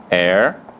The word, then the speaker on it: heir: Mais conhecida, hora, hour, herdeiro, que em inglês chama heir, honesto, honest, e honra, honor. Então aqui temos exemplos de 4 Hs que não são pronunciados, são mudos.